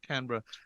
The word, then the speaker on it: Canberra: podcast we have father Alex Osborne from Canberra pronounce that Canberra Australia good job his amazing insane crazy trip